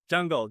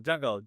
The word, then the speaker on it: Jangal: Jungle, Jangal. I'm not very good with Okay, I pronunciation. thought you were saying Jungle. I'm like, dude, that's a dope ass name.